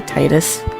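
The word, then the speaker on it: Tidus: Titus might be a self-insert. And yes, I pronounce his name this way, so fight me. I don't care if it's not the uh official version of saying his name.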